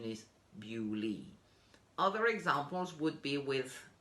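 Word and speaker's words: Beaulieu: pronunciation for it is bewley bew is kind of logical because it comes from beauty beautiful so there is a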